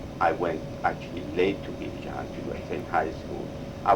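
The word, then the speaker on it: Birjand: How do you spell that? Birjan is B-I-R-J-A-N-D, Birjan.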